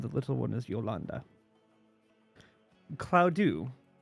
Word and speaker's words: Claudiu: Claudiu is I'm pronouncing it that way because it looks like adieu to me. With CL in front.